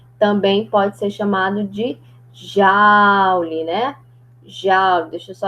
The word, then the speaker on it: Joule: Mas a pronúncia correta é Joule, né? Alguns chamam de Joule, mas o correto é Joule, né?